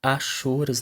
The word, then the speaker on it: hachuras: que são chamadas é pronuncia-se haxorus na verdade não é o h100 som e tem também aí